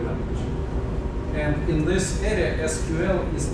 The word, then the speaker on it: SQL: You know, those computer acronyms are not always pronounced the way they're written.